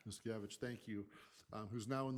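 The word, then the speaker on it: Muszkiewicz: That bill is being carried by Luke, and I can't remember I never figured out how to pronounce his last name, the ex-trustee from Helena, Luke Luke Miskevich. Miscavige, thank you, who's now in the legislature.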